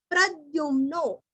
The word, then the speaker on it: प्रद्युम्नो: अनिरुद्धो प्रतिरथ प्रद्युम्नो, प्रद्युम्नो यहाँ पे ध्यू नहीं है, द्यू है, उद्योग का द्यू, वद्य का द्य।